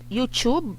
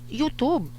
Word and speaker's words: YouTube: found out that uh the correct pronunciation of um the word youtube youtube youtube is actually you youtube so okay guys let's